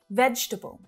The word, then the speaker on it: vegetable: reduce it down and it's the same with this one vegetable not vegetable just three syllables vegetable can i order